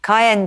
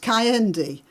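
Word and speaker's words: Kehinde: So, we're joined now by Cayen Andrews, professor of black studies at Birmingham City University. So, the name is pronounced Cayendi.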